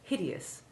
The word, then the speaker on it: hideous: second batch of examples note that hideous is exceptional among the eous words by having its e sounded it is not a silent